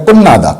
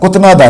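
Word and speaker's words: 끝나다: ये होगा कुन्नादा, कुतनादा नहीं होगा, कुन्नादा, कुन्नादा, फिनिश।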